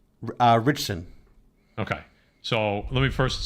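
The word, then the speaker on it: Ritchson: right how do you say his last name richson okay so let me first start off by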